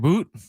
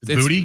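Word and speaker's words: Boutte: Is it Boot? It's Booty. I think it's booty. Might be booty. It's B O is pronounced booty.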